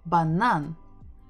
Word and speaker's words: банан: We're stressing the final syllable, banan, banan.